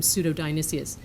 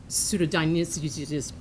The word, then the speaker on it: Pseudo-Dionysius: i'm just laughing because i had a professor in graduate school who could never pronounce the name pseudo-dionysius he was a german and he would always say pseudodynamics which i just did i